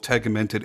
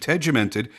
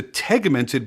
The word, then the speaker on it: tegimented: of different ways, both tegmented and tegimented, my research points to tegmented being correct, as this is the way that the workers at the Sinn headquarters pronounce it in interviews that I've watched.